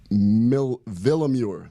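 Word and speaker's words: Willeumier: Kristen Villamure.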